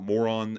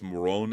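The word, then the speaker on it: Morón: I mispronounced that. It's not Moron Air Base, it's Moron Air Base in Spain, but it's very close to being Moron.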